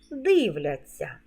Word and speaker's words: дивляться: форму наступна порада мудроїсовий у дієсловах на ця завжди пишемо знак м'якшення і вимовляємо ться як ця м'який подовжений звук дивляться а у дієсловах на